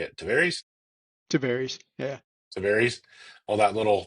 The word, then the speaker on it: Tavares: Pretty wild to see little small Mount Dora, Eustis, Tavares. How do you say it? to varies.